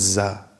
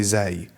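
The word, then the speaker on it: زاي: But za, no, I don't know about this one. No one says za. They all say zai.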